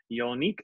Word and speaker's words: Jongnic: well you know what my mother was all focused on the French J's so they actual pronounce